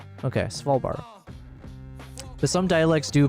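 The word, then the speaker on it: Svalbard: Svalbart is pronounced without the D. So, Swvalbar. I was hoping you would say it's pronounced without the V cuz that's where I'm struggling is that freaking V sound there. Swalbar.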